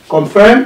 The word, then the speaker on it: confirm: Confirm has two syllables as well. Confirm. Confirm. And the stress must be on the last syllable of the stem.